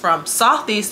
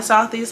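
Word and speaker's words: Sothys: southeast to fenty my face did not purge now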